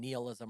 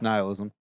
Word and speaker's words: nihilism: of like a or I don't know if I'm pronouncing nism or nihilism it's nihilism I I don't that